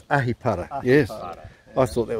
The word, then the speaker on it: Ahipara: Do you want me to pronounce it? Yeah. Aripara? That's it, that's close, it's Ahipara.